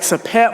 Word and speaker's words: Sopheak: and my best friend, SOPHEAK, but it's pronounced more like Sapet.